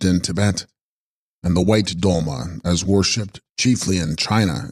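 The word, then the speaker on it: sgrol-ma: Text, Scrolma, pronounced Dolma, Dolma Sanskrit Tara, equals Savioress.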